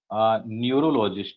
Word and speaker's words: neurologist: if you please pronounce the first word for me, Neurologist.